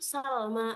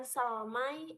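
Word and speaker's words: سلمى: Jadi dibacanya itu salma bukan salmai atau sugrai ataupun hublai tapi dibacanya salma karena ini adalah alif bukan ya sugra dan hubla.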